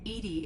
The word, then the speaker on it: EDI: have a specific inquiry why are you named edie edie is the phonetic pronunciation of edi that is an acronym for